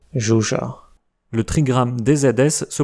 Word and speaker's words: Zsuzsa: ZS (à ne pas confondre avec SZ) se prononce [ʒ] comme dans le prénom Zsuzsa.